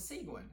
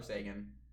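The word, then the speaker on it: Seguin: I swear I thought his name was Seuin. You pro you you probably heard like the Olympics announcer going like number 91, Tyler Sigu, but no, it's Tyler Sean.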